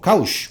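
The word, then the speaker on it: Qos: Se llama Kosh o Kaush, como lo quieran pronunciar, dependiendo.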